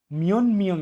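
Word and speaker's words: 몇 명: দেখুন রিহান শিনুন, রিহান সাহেবের খাজুক অর্থ পরিবার, ই পার্টিকেল, খাজুগি পরিবারে, মিয়ন মিয়ং ইয়েও পরিবারে কজন। মিয়ত অর্থ কয় বা কত, মিয়ং অর্থ জন, এটা উচ্চারণ হবে মিয়ন মিয়ং ইয়েও পরিবারে কজন।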